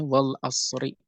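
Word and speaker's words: وَالْعَصْرِ: Contohnya wal asri, al asr itu isim, dibacanya kasrah. Kenapa? Karena ada harful qasmi, karena ada qasam, karena ada sumpah. Maka dibacanya wal asri.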